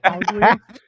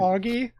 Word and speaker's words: Augie: just laughing about it you said ugly and it's Augie and You misspelled it